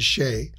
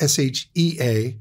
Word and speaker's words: Shea: you say Shea Shea which is the correct pronunciation it would look like s-h-a-e right but it's s-h-e-a okay and still they